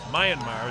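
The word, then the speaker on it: Myanmar: our fighter from marar Mayanmar is the way you pronounce that kma now if somebody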